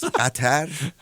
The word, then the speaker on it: Qatar: There is Qatar, and there are Qataris. And it might be just the pronunciation, sorry. It's not to be, in fact, funny, but to call people belonging to gutter, that's quite poor pronunciation.